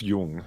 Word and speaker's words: Jung: mispronounce the dude's name the Carl is it young Jung how do you how do you say okay I've only ever read it so fair enough Carl Gustav Jung oh well yeah he starts asking it about